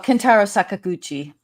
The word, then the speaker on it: Kentaro Sakaguchi: Oh, Kentaro Sakaguchi.